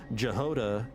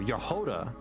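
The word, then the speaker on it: Jahoda: For example, Jehoda in Genshin is pronounced with Y instead of J. Oh, Yehoda.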